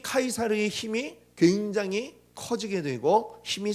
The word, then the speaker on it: 카이사르: 이거는 이제 어 이제 우리 말로 이제 번역될 때에 발음을 가이사 라고 했는데 본토 발음은 본토 발음 뭐야 카이사르 라고 하죠 영어로는 의 c 저라고